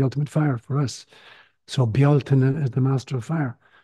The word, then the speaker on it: Bealtaine: The second one is Bealtaine. It's often mispronounced in English as Beltane. Yeah, but in Gaelic it's Bealtaine, Bealtaine.